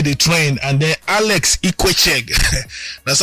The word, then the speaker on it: Ikwechegh: Paul Okoye the trend, and then Alex IKWECHEGH. That's how they pronounce that guy name.